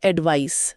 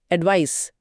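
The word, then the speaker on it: advice: पहला शब्द है एडवाइस सी के साथ। यह एक नाउन यानी संज्ञा है और इसके उच्चारण पर भी ध्यान दें। यह स की ध्वनि के साथ खत्म होता है। एडवाइस एडवाइस इसका मतलब है एन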